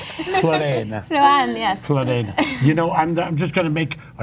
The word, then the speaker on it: Floanne: I just love her name, Floanne.